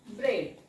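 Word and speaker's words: bread: तेव्हा ती सायलेंट असते म्हणून आपल्याला इथे उच्चार करावा लागतो ब्रेड का कारण इ जोडीमध्ये ए हा सायलेंट असतो तुम्ही माझ्याकडून आधीच्या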